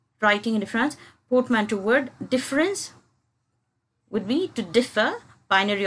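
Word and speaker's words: différance: written with a an a different it is pronounced as difference of course so now different difference is nothing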